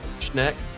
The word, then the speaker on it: Schneck: is your last name just pronounced Schneck? Yep. Okay, making sure.